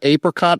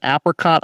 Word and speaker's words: apricot: Well, some of the favorite flavors in the 1700s included strawberry, vanilla, and some pronounce it apricot, others pronounce it apricot.